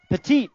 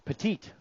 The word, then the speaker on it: Petite: here second go around petite i said pet it again darn it it's petite i was saying that that name wrong the whole summer four